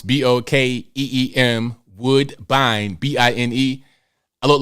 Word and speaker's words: Bokeem: But if you look him up, Bokeem, it is spelled the way it sounds, Bokeem, Woodbine, Bine.